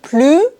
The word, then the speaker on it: plus: plus aux échecs mais attention dans la négation on ne prononce pas le S dans ce mot je ne joue plus aux échecs et maintenant le troisième